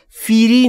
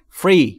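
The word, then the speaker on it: free: بگید آسونه یعنی رایگان تلفظش دقت کن بچه‌ها فیری نیست فری فری بین اف و ر صدایی وجود نداره ی یعنی رایگان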